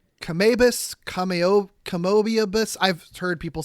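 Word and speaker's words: Kamoebas: I mean, I would think Kamibus, right? It's basically spelled the same way as amoeba.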